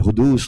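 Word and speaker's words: حدوث: And what is in the physical world, we call the world of hudus in Arabic. Qidam, hudus. If you want English spelling, spell it like Qidm, qidam. And hudus like Hudoos, hudus.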